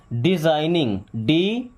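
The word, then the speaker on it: designing: डिजाइनिंग, देखिए इसको हम क्या बोलते हैं? डिजाइन, यहाँ पे जी साइलेंट होता है ना, डिजाइनिंग क्या बोलते हैं?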